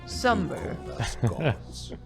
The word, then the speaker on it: Sumer: to your people in a place called sumer we offered guidance in agriculture too that's how my people pronounce summer for a time you